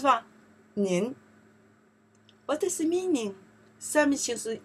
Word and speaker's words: 您: here okay then 撇竖折钩点点 oh that's a character pronounce what 您 what is the meaning 三名词是 you 你But in Chinese here, more specific, say the polite person.